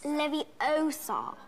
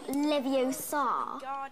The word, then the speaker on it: Leviosa: we're done for besides you're saying it wrong it's Leviosa not Livio sod you do it then